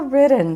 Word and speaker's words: ridden: o e É como se você pulasse do d pro n se você tá começando agora a minha sugestão é fala ridden Tá certo tá perfeito e muito nativo fala ridden então ridden vem